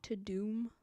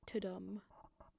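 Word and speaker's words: Tudum: Tadoom. Okay, you weirdos with your weird California accent, it's toadum.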